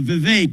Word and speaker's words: Vivek: your name it's uh Vivek it rhymes with cake I found that most